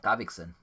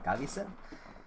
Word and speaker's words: Gavikson: Gavikson. Although you were pronouncing it as Gavison.